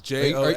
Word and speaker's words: Josey: Like you're not saying Jose a funny way? No, it's Josey.